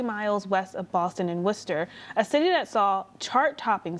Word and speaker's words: Worcester: Here in Worcester, as they say it. Don't pronounce the R at the end.